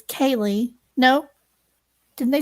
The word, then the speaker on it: Karleigh: Kaylee, I keep wanting to say Karleigh because it's spelled K-A-R, but apparently it's Kaylee.